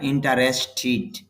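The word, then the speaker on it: interested: ট্যাড হবে না ঠিড হবে ইড যুক্ত করার কিছু নিয়ম আছে ঠ যদি সাউন্ড হয় ট সাউন্ডের পরে যদি ইড যুক্ত হয় তখন ট্যাড না হয়ে টি হয়ে যায় টিট তাহলে উচ্চারণটা হবে আই এম ইন্টারেস্ট টিট আমি আগ্রহী কিসে আগ্রহী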